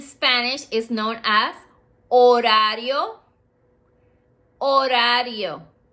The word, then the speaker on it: horario: Horario. Remember, it has a silent H.